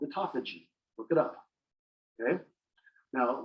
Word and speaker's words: autophagy: What is autophagy? Sometimes pronounced autophagy.